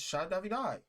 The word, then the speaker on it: Shai Davidai: It's Shai Davidai. Okay. Like El Shaddai. Okay. Gilkakona. You don't know the next words. I'm with you. Yeah, so he was talking. I introduced myself as Shai Davidai.